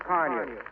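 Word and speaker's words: Carnu: Car New is spelled C-A-R-N-U.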